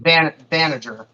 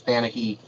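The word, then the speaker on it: Banagher: Yeah, it's pronounced Banager or Banneker, but it's Japanese, so it's Banahi.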